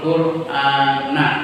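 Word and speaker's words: القرآنَ: iqraul qurana bacalah Quran iqraul qurana bacanya na bukan ni bukan nun ya karena ini dalam bahasa Arab itu sebagai objek fainnahu maka sesungguhnya membaca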